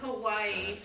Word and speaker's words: Kauai: Kauai.